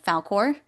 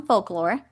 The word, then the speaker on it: Falkor: I kept calling him folklore this whole time cuz I couldn't help myself. My husband was like, "You're going to say it wrong in the thing." And I was like, "Falkore, Falkore, Falkore."